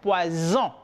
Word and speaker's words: poison: Pero la S en dos vocales se pronuncia como una Z. Aquí yo tengo poison, que significa veneno.